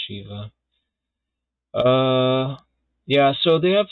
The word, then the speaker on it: Shiva: english language but because if it sounds like shiver it's not actually weird um but the original pronunciation is shiva uh yeah so they